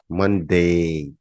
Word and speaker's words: Monday: the first sentence about मंडे मनडे मनडे डे को थोड़ा सा खींच देते हैं अंग्रेज हम अंग्रेजी सीख रहे